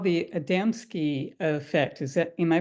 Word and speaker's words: Adamski: Okay, Dennis, well, you posted first, but um, the name of it is called the Adamski effect. Am I pronouncing that right, Dennis?